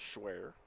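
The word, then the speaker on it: Schwehr: James schwar playing it's it's spelled s CH wehr pronounced schwear fouls this one away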